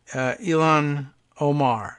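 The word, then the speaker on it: Ilhan Omar: billed as a reproach to newly elected congresswoman elong Omar is that am i pronouncing her name correctly yes of Minnesota and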